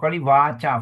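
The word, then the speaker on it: vācā: suot very good again now remember the long vowels second line is a problem for many of us k wa long a long a you waca fine oke ya i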